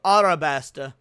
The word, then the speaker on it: Arabasta: of this for me, he could have said Alabasta or Arabasta, but he said Arab. He got he there's two different ways to pronounce it depending on if you're going with the Japanese or the English and he both up.